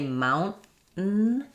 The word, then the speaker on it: mountain: When I say mountain, what I'm doing there is an unreleased T, because what I'm doing here is a syllabic N.